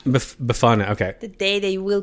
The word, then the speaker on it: Befana: So they've got this witch named Befana. No, Befana. Befana, okay. The day they will pronounce that name right.